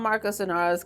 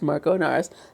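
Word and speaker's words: Marco Inaros: of Marco anaros and I want to call him Marcos anaros cuz I like the way it Rhymes better but I know it's Marco anars that still hasn't come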